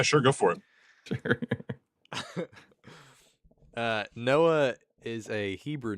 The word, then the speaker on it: Noach: Noah is a Hebrew name. And Noah's name way back in ancient Hebrew was actually pronounced Noach. Noach. Just like a Okay. Scottish loch.